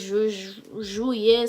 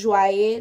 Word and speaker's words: Joye: who was African, and he used to tell me that's not how my name is pronounced. It's Juillet, something like that. I don't know how to pronounce it like him. But yeah, he always used to tell me I was pronouncing my own name wrong. But I know it's Joye. That's how it's been pronounced back home.